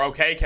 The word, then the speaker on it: Okeke: in chuma okiki he's or okk as I just learned his name is pronounced is also playing a